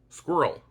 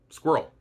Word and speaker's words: squirrel: on your accent, because some people pronounce this word as squirrel with 2 syllables, while others pronounce it squirrel with only one.